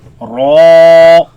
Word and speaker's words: را: لام نون را Raise the back of the tongue. Make it heavy. را Ra.